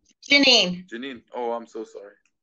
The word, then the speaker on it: Jaynine: as well hey j9 is that how you pronounce the name j9 Janine Janine oh I'm so sorry no that's okay